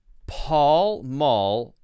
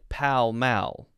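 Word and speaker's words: Pall Mall: hard to tell why it's paul maul paul maul but pal mal i think is yeah paul mall but pal mao muscle muscular goal iron timber climber bullion lion i just want to make sure this is paul and maul and then i know the cigarette company is pal mal or some people say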